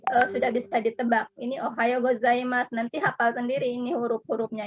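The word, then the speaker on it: おはようございます: Su, tapi u-nya mulutnya tidak monyong. Ohayo gozaimasu.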